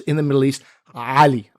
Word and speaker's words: Ali: in the middle east ali ali it's a guttural a i can barely do